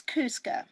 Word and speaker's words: Kuska: you say your last name for me it's cusca cusca i was a i wasn't a pronunciation so it's all good i didn't want